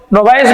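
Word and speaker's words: novice: कोई भी व्यक्ति अगर when he इज ए न्यू टू ए जॉब, नोविस means नोविस, नोवाइस भी इसका उच्चारण होता है, नोविस भी होता है।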